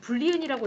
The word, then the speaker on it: boolean: 그리고 문자는 캐릭터란 뜻의 논리형은 분리은이라고 읽으시면 됩니다 이렇게 놓고 자 여기다